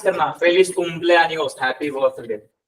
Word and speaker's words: cumpleaños: कॉम्प्लियानियोस, pronounce करना भूल गया था। कॉम्प्लियानियोस, cumpleaños, feliz कॉम्प्लियानियोस सीनियर सचिन।